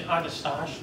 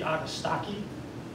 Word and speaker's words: Agastache: And the pronunciation, you might be inclined to say Agastache, which is my first thing, because it looks like mustache. Supposedly, it's from a Greek root, and it should be Agastaki, like a hard C, and Staki, can remember it because it's, I think it's the root of the word stalk. Yeah. And aga means many stalks in Greek, apparently. So aga stalk is the right way to say it, but of course, you